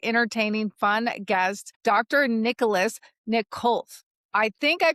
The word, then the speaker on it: Nikolov: Nicholas Nick Khouf. I think I pronounced your name right, right?